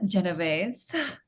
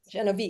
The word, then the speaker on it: Genovese: That's the American version.